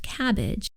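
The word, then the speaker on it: CABG: from a phrase like c a b g which is pronounced cabbage it's important to familiarize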